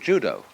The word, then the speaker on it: judo: out the science of judo. Dao is the way the Japanese pronounce dao. Ju means gentle. Judo, the gentle way, whereby a strong man